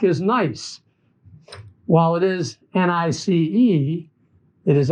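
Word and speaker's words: gneiss: nice while it is nice it is actually spelled g-n-e-i-s-s gonis or properly pronounced nice so this is what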